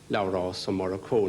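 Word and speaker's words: Labhrás Ó Murchú: And he said, by the way, how do you pronounce that name again? And I said, Labhras Ó Murchú.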